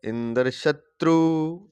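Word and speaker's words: इन्द्रशत्रु: तो कहने का तात्पर्य है कि अगर इंद्र शत्रु शब्द का उच्चारण करना है तो इंद्र शत्रु, त्रू जो है उसका उदास स्वर से होगा।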